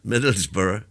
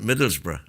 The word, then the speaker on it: Middlesbrough: You should say that cuz the smuggies get annoyed with us for for calling it Middlesborough because they call it Middlesbrough. We We've got four syllables to their three.